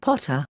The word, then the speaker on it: Pater: Ammon is also Pa, Thor, Jove, and Pater, pronounced Potter.